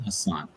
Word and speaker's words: Hassan: My name is Hassan. So the spells are the same. It was a All typo right. error in my early documentation. I have to follow. The pronunciation is Hassan.